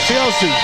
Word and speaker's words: Siosi: Siosi.